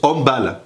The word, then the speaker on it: handball: volet ou au handball oui alors ça se prononce handball parce que c'est pas anglo-saxon alors pourquoi pas de